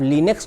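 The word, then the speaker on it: Linux: जो लिनक्स है, जिसको लाइनेक्स भी बोलते हैं, बहुत से लोग लिनक्स भी बोलते हैं, प्रोनाउंसिएशन का डिफरेंस है लेकिन है एक ही चीज़। तो कुछ लोग लिनक्स बोलते हैं, कुछ लोग लाइनेक्स बोलते हैं, बस अलग अलग कंट्री में अलग अलग तरीके से प्रोनाउंस करते हैं।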